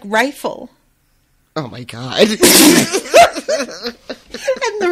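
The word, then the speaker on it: Reighfel: You know, pronounced like rifle.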